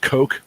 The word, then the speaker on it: Koch: this reissue by that's i think it's pronounced coke records koch i call it [